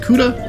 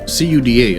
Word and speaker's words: CUDA: 1536 CUDA cores versus 256 on the Switch. Is it pronounced CUDA or is it CUDA? I've always just said CUDA like Barracuda.